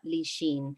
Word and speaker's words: Lichine: her as that um tanya lichin but she was done tatiana li sheen okay yes yes because